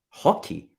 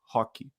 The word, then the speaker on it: Roque: to pronounce this name hockey it's actually like Rocky as in Rocky Balboa almost it's Vito hockey I knew I was